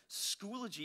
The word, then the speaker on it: Schoology: there's a word there, schoology is how you pronounce that. We actually confirmed that with them, because there's like schoology, there's, you know, different ways to, that people come up with for that one.